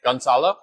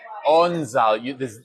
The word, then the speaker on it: Gonzalo: Z as a zoo. Alo. Gonzalo. Onzalo. The G is silent. Sort kind of. of. Yeah. It's sort of.